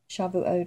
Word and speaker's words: Shavuot: People say it different ways. Shavuot, I think, is the proper pronunciation.